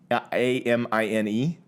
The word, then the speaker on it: amine: i saying that right amine a-m-i-n-e amine oh like a mean yeah i don't remember